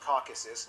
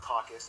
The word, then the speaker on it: Caucasus: Eurasia by the way it's pronounced Caucasus not caucus the Caucasus when a